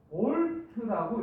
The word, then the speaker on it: 볼트: 단위를 어떻게 쓰냐면 요렇게 쓰고 요거를 V라고 읽으면 안 되고 볼트라고 읽어야 돼요. 볼트? 자, 전압을 표시할 때는 V 단위도 똑같이 쓰는데 볼트 이렇게 읽어야 돼요.